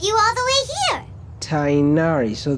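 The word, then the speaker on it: Tighnari: all the way here tainari so the g is silent and I is like an AI but not an double e not a double e so chai nari on the entire way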